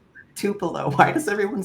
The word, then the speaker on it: Tupelo: Tupelo. Why does everyone say Tupo to What is it?